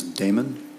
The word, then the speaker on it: Damon: Damon, did I pronounce that correctly?